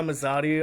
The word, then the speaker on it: Mazadu: I go by Mazadu. I know a lot of people they kind of pronounce it in different ways wherever they want.